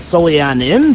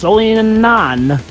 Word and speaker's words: Solianan: You could have maybe pronounced it Solianin, but nope, it's Solianan.